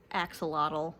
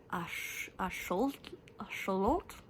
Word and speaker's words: axolotl: I actually learned that axolotl is not how you pronounce it and it's actually an indigenous word it's ash-oh-lohtl.